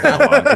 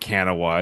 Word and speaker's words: Kanawha: My mom yelled at me enough, and I was like, "Hey, how do I say Kanawha? Is it? I know it's not Kanawha. Is it Kanoa?"